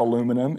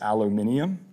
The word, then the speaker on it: aluminium: one i like is aluminium in the rest of the world it's not aluminum it's aluminium and the story that